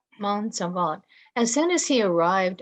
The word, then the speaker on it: Monsalvat: How is that pronounced? Monsalvat. Monsalvat.